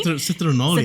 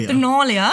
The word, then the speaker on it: Saturnalia: I heard as well that Christmas actually owes its roots to the Roman festival Saturnalia, if I pronounced that correctly. Citronalia. Saturnalia.